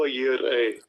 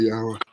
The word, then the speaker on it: Jireh: Strong's H 3070. Jehovah Yireh. Jehovah Yireh. So Yahuwah Yireh. Mm-hmm. Yahuwah Yireh. Yahuwah Jireh. Either way.